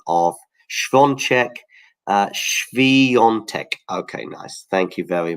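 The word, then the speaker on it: Świątek: And somebody there looking very upset with my pronunciation of Swiatek. Swiatek.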